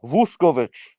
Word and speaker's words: Vuskovic: Luka Vuskovic. Luka Vuskovic. Yeah, nicely exactly. done, Dave. Nicely done. Sounded Exactly. good. Just not treat the pronounced U as an O and away you go.